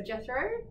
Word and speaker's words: Jethro: name correctly yes okay yes in a Dutch way yes it's too hard to explain to english-speaking people how to pronounce it properly on the edge but Jethro's perfect okay perfect so why